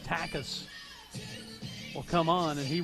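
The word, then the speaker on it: Takac: his responsibility so takas t-a-k-a-c is the spelling of his last name but it's pronounced takus will come on and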